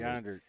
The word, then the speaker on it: Jandart: I remember Jeff Jandart was explaining to me that the J in his name Yonder. is pronounced like a Y, and I'm like, okay, thanks, Jeff.